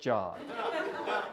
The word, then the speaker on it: Jod: One way to remember someone's name when it's not a common name is to associate it with something, like this rod, which rhymes with Jod.